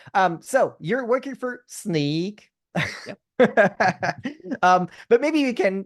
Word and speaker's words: Snyk: that's always the question right how do you pronounce that name is it sneak snik sink it's not sink it's actually it's sneak some people say sneak but I don't like